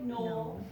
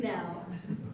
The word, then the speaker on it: Knoell: And then my last name is Knoell. I know it looks like Knoll, but it's actually Knoell. And so I've been telling people, like, the K is silent and the O is silent. One of the L's. It's just sort of every other letter, just ignore.